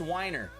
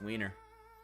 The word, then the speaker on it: Weiner: i looked it up it's not even pronounced whiner yeah i know how do you go your whole life and you go yeah i know it's pronounced weiner you've got the perfect